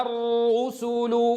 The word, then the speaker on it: الرسل: الأول منها ساكن والثاني مضموم. الرو، الراء الأولى ساكنة و والحرف والثانية مضمومة. إذًا لا بد أن يظهر هذا في أدائنا، فلا يصح أن نقول وإذا الر، وإذا الر، فأضم الشفتين عند الراء الأولى الساكنة. واضح إخواني؟ إذًا وإذا الر، هذه الراء الأولى، الفم عندها ساكن في وضع السكون.